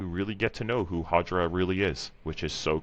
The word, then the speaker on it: Hajira: It is not Hajira, it's Hajira.